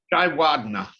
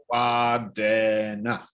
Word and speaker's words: Jayawardene: Jayawardene of Sri Lanka. Am I getting that Prime Minister's name right, John? Jayawardena. Okay. Jayawardena. That's how it's pronounced. Equal stress on all the syllables.